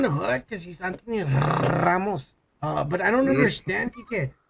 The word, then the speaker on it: Ramos: Anthony Ramos. Ramos. Okay, you're doing that too much, man. Come on. That's the way you say his name, all right?